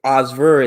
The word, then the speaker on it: Osver: So there's a lot of names that have like Osver is actually a French name. You don't pronounce the T. It's Osver, and is just my family's last name.